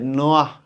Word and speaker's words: Noah: হজরত নূহ আলাইহিস সালাম, যাকে ইউরোপ আমেরিকায় নোয়াহ বলা হয়। ওনার নামটা করে বানান করা হচ্ছে এরকম NOAH, এরকম, বা NOA দিয়ে লিখা হয়, নোয়া বলে।